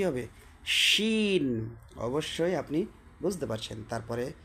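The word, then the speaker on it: شين: scene এটা হচ্ছে আপনার কি সিন তারপরেরটা কি শিন সিন শিন এটা হচ্ছে বড় সিন প্রথমটা হচ্ছে ছোট সিন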